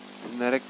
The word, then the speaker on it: senerek: Sop Senerek menurut cerita adalah makanan peninggalan dari zaman orang Belanda yang berasal dari sener, yang artinya kacang polong. Oleh lidah Jawa, pengucapannya berganti menjadi senerek.